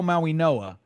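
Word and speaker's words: Mauigoa: guys, Arian Smith, Francisco Minoa, Dom is saying that that G is pronounced with an N.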